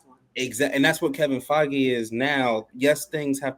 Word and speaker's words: Feige: His name rhymes with Fegan Kivey. Who? It's Kevin Feige.